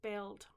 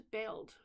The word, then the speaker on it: Beld: the statue to this island of Beld, or Bled, and I think it's Beld, B-E-L-D. I think that's the way I would pronounce it anyway, I think.